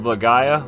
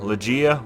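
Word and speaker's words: Legaia: want to say i i was a kid i was called it lagaya but i think it's pronounced legea or i've said luchi and i think it's pronounced lagai now in this game you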